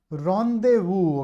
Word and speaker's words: rendezvous: Rendezvous, okay, pay attention to the pronunciation here.